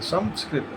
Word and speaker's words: संस्कृत: संस्कृत स आधा म स ये उच्चारण होना चाहिए।